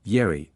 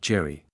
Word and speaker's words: Jerry: Lupe always pronounced my uncle's name as Yeri, not Jerry.